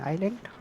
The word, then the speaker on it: island: so let me just go click on the island and what I can do when you are